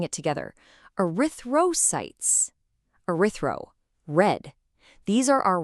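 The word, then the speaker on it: erythrocytes: So you see a word like arythosytes. Let's try saying it together. Ariththroytes.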